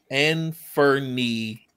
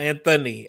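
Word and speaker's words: Anfernee: no no no no a n f e r n-e-e and for knee and not Anthony and Fernie Robinson daughter of anime based Studios under 30.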